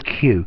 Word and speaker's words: cue: Okay, so yeah, to cue, the cue. Notice this sounds exactly like a line of people, Q-U-E-U-E, but it's spelt very differently.